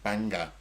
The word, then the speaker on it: Bangor: Um he was born in Bangor. Is that how you say it? Banga. Banga.